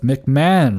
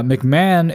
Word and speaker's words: McMahon: gone to one that is set up with McMahon rules. Uh McMahon is set up is spelled M C M A H O N.